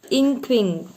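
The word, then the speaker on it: Nquing: Inkwing. Pronounce it like that.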